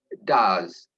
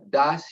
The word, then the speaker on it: does: Yeah, how to say does. Jadi perhatikan sedikit bagaimana mengucapkan does yang benar. Bunyinya itu agak seperti bunyi Z, ya, bukan S. Jadi bukan does.